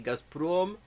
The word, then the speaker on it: Gazprom: Gazprom, Rosneft. Так произносится, и не иначе.